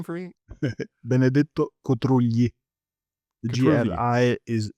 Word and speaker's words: Benedetto Cotrugli: of Trade by, I might mispronounce this name, Benedetto Cotrugli. Is that right? Could you Cotrugli, pronounce this yes. name for me? Benedetto Cotrugli.